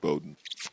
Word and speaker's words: Bodden: does it's spelled Boden it's spelled Boden said Bowden um hash kidney Alonzo